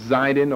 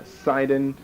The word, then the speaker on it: Sidon: essentially the same thing whether you put a zyden or a seiden a lot of people really aren't going to notice the difference in your pronunciation now this you ought